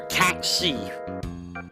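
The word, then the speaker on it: Cait Sith: Kate Sith or Cat Sie as it's supposed to be pronounced, but it's Kate Sith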